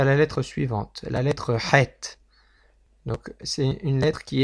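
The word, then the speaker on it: חית: Donc ça vient du fond de la gorge, et il faut appuyer un peu au fond de la gorge pour exprimer ce son, qui ressemble un peu à un dégoût, comme si on allait plus ou moins régurgiter. Il faut un peu pousser au fond, donc ça fait ha, het.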